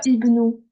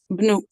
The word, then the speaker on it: ابن: زيدين Juste là, du coup, ici, faut pas prononcer le alif. C'est pas ibnou. بن Ouais, هو بن زيدين ouais.